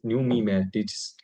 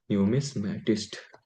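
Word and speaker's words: numismatist: coin को क्या बोलते हैं न्यूम न्यूमी से न्यूमीटिस्ट क्या बोलते हैं इसकी प्रोनाउंसिंग नहीं करना न्यूमी से न्यूमिस्मैटिस्ट न्यूमीटिस्ट न्यूमिस्मैटिस्ट who collects who loves to collect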